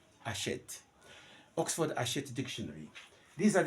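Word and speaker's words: Hachette: cins and again Oxford haset haset you know H is never aspirate in French so we write it we don't pronounce it ashet Oxford AET dictionary these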